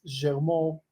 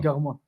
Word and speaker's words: Garmon: Así es que originalmente es Germó, porque mi papá nació en Túnez. Ah, ok. Entonces, pero ya decimos Garmon. Garmon, así es.